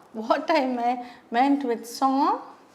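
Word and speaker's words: sans: i mean meant with song s a n s s is silent and at the age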